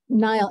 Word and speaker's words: Nile: think of me uh Nile and by the way is that the correct pronunciation like the river but my parents wanted to confuse people Begin by telling